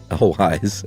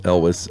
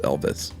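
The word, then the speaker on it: Elwes: Elwise, I posted I had read on a Reddit AMA his name sounds like Elvis, but what I meant to say was it rhymes with Elvis.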